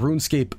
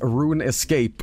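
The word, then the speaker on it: RuneScape: I was a kid I called run escape as Rune Escape oh fuck off I had I had friends who did the same Rune Escape no fucking way to know how to pronounce that shit it's not Youtube Mindcraft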